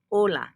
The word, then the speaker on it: hola: the word um hello when we say hola you don't hear that H so olaia and the